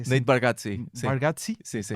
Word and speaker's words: Nate Bargatze: que eu confirmei, o Nate Bargatze, acho que é assim. Nate Bargatze. Bargatze? Sim. Ok, tem a pronúncia, um toque italiano, meio italiano.